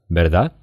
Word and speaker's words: verdad: Верда? Кстати, в этом слове, если оно идет после паузы, первый звук «б».